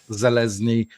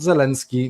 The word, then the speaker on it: Zelezny: linkedin if you type zelezny not zelensky not zeleny every time he's spelling